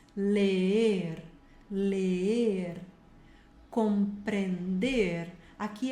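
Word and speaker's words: leer: o R, aprender, ler, tem que pronunciar os dois Es, ler, ler, compreender, aqui é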